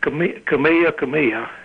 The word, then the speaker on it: Kamehameha: Well, Kamehameha. King Kamehameha. That's the way they pronounce it.